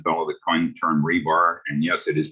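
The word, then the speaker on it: RBAR: why i pronounce it rebar is it reminds me of the metal rods that are stuck in cement forever and not going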